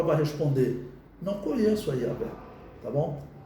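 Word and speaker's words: Yahweh: Porque quando Moisés apresentar, olha, Yahvé, que é a pronúncia mais aceita para o nome de Deus no Antigo Testamento, ou Jeová, ou Javé, tá bom?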